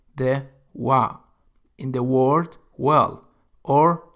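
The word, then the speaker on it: وَرْد: example is the word word which means flower wow ra dal you can see here that wow is pronounced as w the word is again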